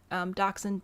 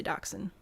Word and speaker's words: dachshund: Dachshund, being a German word, will naturally be pronounced differently in German versus English. But if you're English, you can just say dachshund.